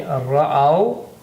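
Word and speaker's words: رأوا: Okay, ra'aw. This alif is just written.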